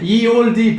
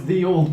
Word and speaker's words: ye olde: Yeah, but that always annoys me as well, because ye old would be pronounced, the Y is a TH noise, so it would still be the. Yeah. It's us being idiots. Oh, look, it's ye olde pub.